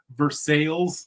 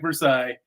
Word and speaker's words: Versailles: Spelled exactly like Versailles. And they're like, we ain't doing this French pronunciation crap.